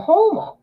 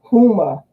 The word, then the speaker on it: Houma: she's from her yeah Houma but I wanted to laugh because they pronounced it Puma and at first I was like do they mean Houma and then later like when